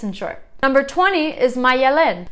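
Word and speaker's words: Maialen: Number 20 is Mayelen. So very similar, just added another syllable, Malen.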